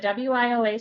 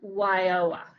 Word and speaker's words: WIOA: We do talk about it later on, but WIOA stands for the Workforce Investment and Opportunity Act. Okay. And what is it? It's how do you say it as a? WIOA.